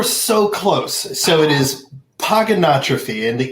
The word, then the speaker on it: Pogonotrophy: close so it is pogonotrophy and the easiest way to nail it every time is pogo no trophy pogo it's kind of